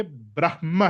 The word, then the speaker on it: ब्रह्म: वह ब्रह्मा विष्णु महेश वो वहां पे जो ब्रह्मा है वो उसका प्रोनाउंसिएशन और स्पेलिंग अलग है वो है ब्रह्मा। यह है ब्रह्म।